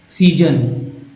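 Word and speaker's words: season: तो जो एस है यहाँ पर, पहला एस जो है स के रूप में उच्चारण हुआ, दूसरा एस जो है ज के रूप में उच्चारण हो गया।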